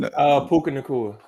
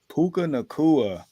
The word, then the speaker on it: Puka Nacua: I don't even, how you pronounce his name? Puka Nacua. Puka Nacua.